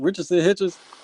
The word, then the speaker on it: Richardson Hitchens: Richardson Hitchens.